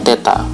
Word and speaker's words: teta: Kelvin ataukah satuan internasional dimensinya Teta ini bacanya Teta sudut kuat arus listrik